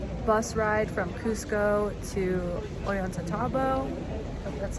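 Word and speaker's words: Ollantaytambo: and a half bus ride from cusco to orienta tabo that's how you say it um we're here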